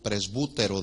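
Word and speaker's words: πρεσβύτερος: Anciano es la palabra del griego presbútero, con B de bueno y acento en la U, presbútero, de donde viene la palabra que conocemos presbítero.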